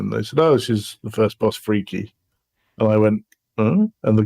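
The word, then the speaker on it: Phrike: so what's the name of the first boss frike it's not it's freaky is how you're supposed to pronounce it apparently ah off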